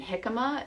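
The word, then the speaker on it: jicama: there's dipping vegetables like carrots and celery and hikma you guys if you haven't tried hikma yet um it's spelled j i c a m a and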